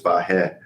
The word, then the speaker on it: Vahe: told all my life my name's pronounced Vahe, but there's a very Armenian friend I have who thinks I mispronounced my name, and it's Vahe. I'm like, I can't do that. I'm sorry, what? Yeah. Should it be Vahe? More like Vahe. So like Va with a Eric Bieniemy laugh on the end.